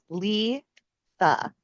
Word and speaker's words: Litha: Litha. It is spelled Litha, and we pronounce it Litha.